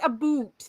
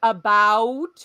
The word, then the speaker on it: about: no no no no it is not a boot that okay unless you're going to like eastern Ontario it is about we pronounce both of the vowels and because y'all say